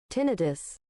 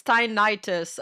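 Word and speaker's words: tinnitus: Well, I got to add pronunciation for it. Tinidis.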